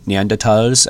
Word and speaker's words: Neanderthals: There are various versions, so there are the Neanderthals, or the Neanderthals, as it should be pronounced in German.